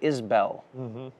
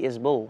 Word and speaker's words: Isbell: Some people say Isbell. Yes. You say Isbell. I say Isbell. And even in Texas, there are Isbells who will correct me on how I pronounce it.